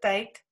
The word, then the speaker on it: Tet: Maklike manier om dit uit te spreek, het ek daar in hakies gesit, Tet. En dan die uitspraak is te, soos in thank you, so dis 'n TH klank, 'n sagte T klank.